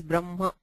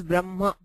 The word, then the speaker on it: Brahma: the pronunciation is always Brahma where the ma comes first and the hakara is not fully pronounced we do not stress the hakara and say brah ha it is Brahma where it's a sort